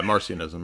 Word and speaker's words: Marcionism: Is it Yeah, Marcionism, yeah.